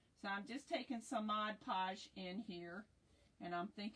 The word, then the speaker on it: Mod Podge: So, I'm just taking some Mod Podge in here. And I'm think I'm saying it correctly this time because I have a habit of saying Modge Podge.